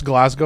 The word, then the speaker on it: Glasgow: I'll be honest you're one of the first Americans to pronounce Glasgow right they they'll always say Glasgow and not glasgo oh I got you